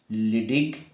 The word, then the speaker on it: Leydig: LEYDIG, लिडिग cell, ठीक है? Very very important for the endocrine function of testis, ठीक है? तो देखिए ये लिडिग सेल और इंटरस्टिशियल सेल ऑफ लिडिग कहां पर रहेगा?